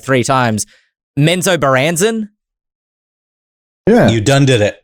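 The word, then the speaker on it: Menzoberranzan: challenge myself to pronounce this I heard it pronounced like three times menso baranzen yeah you done did it that's how you pronounce it great uh the Neverwinter MMO is getting amenzo baranzen expansion uh which was originally authored or is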